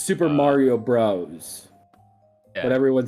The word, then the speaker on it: Super Mario Bros.: It's Super Mario Bros. Yeah, But everyone says Super Mario Brothers for some fucking reason. No, actually, I looked this up, and apparently the consensus is it's Super Mario Brothers.